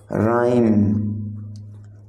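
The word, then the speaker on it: rhyme: राइम, तो राइम में जो आपका साइलेंट लेटर है वो है एच। आप राइम को प्रोनाउंस करते समय एच का यूज नहीं करते हैं।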